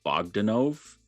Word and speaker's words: Bogdanove: And this is the one that's the stories by Louise Simonson, and the cover is John Bogdanove. Dude, like, that's how you say it.